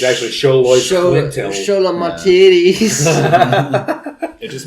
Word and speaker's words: Xoloitzcuintle: The X at the beginning is to be pronounced like CH. Xo, Lloyds, Quintle, Xoloitzcuintle.